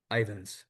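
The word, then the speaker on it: Ivins: What is the proper pronunciation of the man's name? Ivans.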